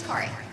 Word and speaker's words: Kari: Ki ferrarii uh people it's a Swedish name and so people mispronounce it all the time but it actually is Ki um first of all